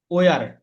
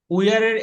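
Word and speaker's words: were: আমরা আগে পড়েছি উইয়ার, কিন্তু এটার সঠিক উচ্চারণ হলো আহ, ওয়া। ওয়া ব্রিটিশ এটা উচ্চারণ করে ওয়া, ওয়া। আর ওয়ার। হ্যাঁ ওয়া, ওয়া। আর উচ্চারণ করে না ওরা, ব্রিটিশরা আর উচ্চারণ করে না, ভাওয়েলের পরে যখন আর আসে তখন সেটাকে একদম উচ্চারণ করে না, তারা সাইলেন্ট রাখে।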